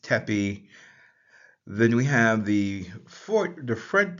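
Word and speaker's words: tpy: That is transliterated with the letters T-P-Y and pronounced tepi.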